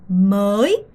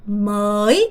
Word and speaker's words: mới: mới. 얘부터 발음해볼게요. 입 모양 보세요. 목을 이렇게 조이면서 mới 이렇게 발음하셔야 돼요.